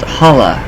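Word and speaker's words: challah: i might maybe um also called pronounced hala ha it's a traditional juice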